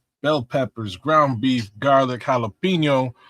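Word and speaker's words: jalapeño: Um, guinea beans, onions, bell peppers, ground beef, garlic, jalapeno, or gelapno if you mispronounce it.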